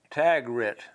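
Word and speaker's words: tag-regret: what the word is called tag Rhett okay the rhymes with regret that's the feeling that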